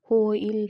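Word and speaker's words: hwyl: ہے جس کا مرکز حائل تلفظ ہوئل ہے۔ ایک ویلش تصور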